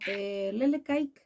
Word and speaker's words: Lelek Aike: Bueno, Lele Kaik, sí, supongo que se pronuncia así, yo tampoco sé, es una voz aborigen de los llamados Saunkenk, o de Ujú.